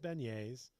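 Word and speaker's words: Beniers: Penultimate pack is John Morsy, Matty Beignes, and it should be pronounced beignetes. I won't have any of this beneer stuff.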